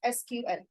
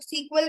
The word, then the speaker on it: SQL: है structured query language S क्यूएल कुछ लोग एसक्यूएल भी बोलते हैं कुछ लोग सीक्वल भी बोलते हैं anything you can pronounce okay तो एसक्यूएल जब